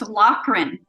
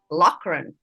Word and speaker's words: Loughren: So it's pronounced Loughren. Loughren.